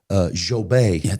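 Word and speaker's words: Djobé: And then Paul Jobé. D is silent.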